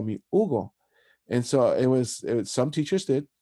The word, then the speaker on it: Hugo: and I say, well, that's how you pronounce it in English, but my name is Hugo in Spanish, so I would prefer if you call me Hugo.